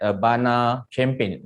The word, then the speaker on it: Urbana-Champaign: And prior to that, Master Science in Mechanical Engineering at University of Illinois at Urbana-Champaign. Is that correct, the pronunciation?